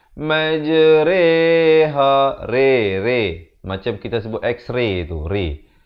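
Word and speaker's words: مجريها: saja dibacakan dengan imalah bacanya macam mana bukan majroha bukan majriha bukan majruha tetapi dibaca dengan majreha Rere macam kita sebut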